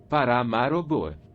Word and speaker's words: Paramaribo: And the capital is Paramaribo, which is pronounced Paramaribo.